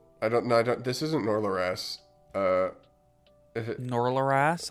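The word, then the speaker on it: Norleras: no no no no it's nor laurass it's spelled n-o-r-l-e-r-a-s nor laurass I'm putting it on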